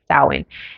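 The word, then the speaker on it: Samhain: holiday which is called sowin now it's spelled completely different but it's pronounced sowin and it's actually religious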